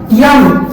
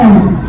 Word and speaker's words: M: अगर मैंने ये वर्ड लिखा यम, इसको हमेशा लोग अक्सर पढ़ते हैं जिनको अंग्रेजी में प्रोनाउंसिएशन सही करना नहीं आता, तो इसको पढ़ते हैं यम, और ये यम सरासर क्या होता है, हमारा गलत होता है। हमारी पहाड़ी पुस्तक जो हम बचपन में पढ़ते थे उसमें शुद्ध लिखा गया था एम, क्या लिखा गया था, एम लिखा गया था, और ये हमारा शुद्ध होता है एम।